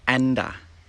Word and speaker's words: and: And a. Anduh. Anduh. Can I have a coffee anduh cake please?